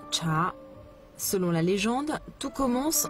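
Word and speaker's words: 茶: Le caractère chinois qui signifie thé se prononce cha.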